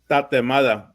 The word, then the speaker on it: tatemada: Tatemada. Tatamada.